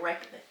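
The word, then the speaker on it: Reykjavík: Reykjavik Brett Reykjavik hey the locals say rectly you know I think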